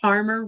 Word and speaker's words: Parmer: Remember, Parmer rhymes with farmer.